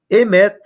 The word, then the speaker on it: emet: Emet, não sei escrever em hebraico, embora consiga ler alguma coisa, mas a pronúncia emet.